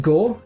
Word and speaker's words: 業: Right, so apparently the Waza part of Wazamonogatari is pronounced go and means business, work, act, or deed.